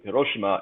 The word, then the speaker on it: Hiroshima: The old the Fukushima and not Fukushima, Hiroshima and Nagasaki bombs were Thank you for using the proper, Japanese pronunciation.